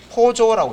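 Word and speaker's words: POJO: 그래서 웹 개발에만 국한된 개념이 아니고 포조라고 읽는데 포조 예요 포조가 약자로 플레인올드 자바 오브젝트라고 해서요. 예.요 플레인 올드 자바에서 Poj 요거 합쳐 가지고 포조라고 합니다.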